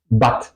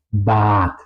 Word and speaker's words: Bad: Por ejemplo, la palabra Bad es una palabra de una sílaba. Bad. ¿Ok? Pues la A está adentro de la sílaba, es decir, la regla que hemos escuchado hace un momento dice que se tendría que pronunciar corta, bat, pero eso no es la pronunciación correcta es bad.